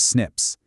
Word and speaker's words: SNP: These are called single-nucleotide polymorphisms, usually just pronounced as SNPs.